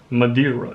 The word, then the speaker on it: Madeira: country man mandaria model madrella how do i pronounce that in english madeira yes it's an island in the entire atlantic